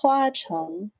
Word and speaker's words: Hua Cheng: Met Hua Cheng up. Can we please just give a moment to just F in the chat for Hua Cheng? It's supposed to be Hua Cheng.